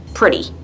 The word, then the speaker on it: pretty: and hear it and notice how I pronounce pretty like it's spelled with a D instead of a T like pretty let's listen but they're